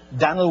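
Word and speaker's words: Dan'l: Have you ever heard of Daniel Boone, Daniel Webster? In those days, they spelt the name D-A-N apostrophe L. They pronounced it in one syllable, Daniel.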